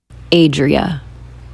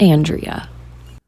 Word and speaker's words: Adria: Adria, not Andrea. Okay, that's how to pronounce my name. Adria, not Andrea. Okay, cool. Cool. There's no N in there.